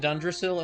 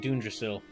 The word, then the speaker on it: Dundrasil: I am truly humbled to be lucky enough to I just realized like some like he pronounces it Dundrasil and then Rab pronounces it Dunrasil.